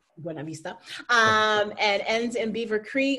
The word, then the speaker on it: Buena Vista: Well, I just mentioned this, but Trans Rockies 6-day stage race in Colorado starts in Buena Vista, which that's an awful pronunciation, but that's what they say. Buena Vista, and ends in Beaver Creek, 120 miles, 20,000 feet of vert.